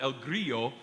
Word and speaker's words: El Grillo: The next piece sung by our Voces Sacris group is called El Grillo, which is the Spanish pronunciation because even though it's written in Italian, the composer, Josquin des